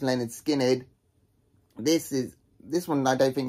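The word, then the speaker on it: Lynyrd Skynyrd: Case in point, this is Leonard Skinnerd's debut album, pronounced Leonard Skinnerd.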